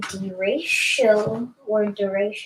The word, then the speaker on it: derecho: This is definitely significant, and this possible derecho, which is how it's mainly supposed to be pronounced, is going to be significant.